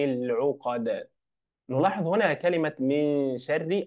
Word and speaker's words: شر: نلاحظ هنا كلمه من شر الراء الراء الراء ا مكسوره فهنا والراء مرققه نقول من شر لا نقول من شر لا شر شر من شر النفاثات الالف